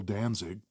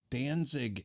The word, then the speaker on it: Danzig: and his partner Joel Danzig any relation no spelled differently spelled with a t Danzig there's no way that's his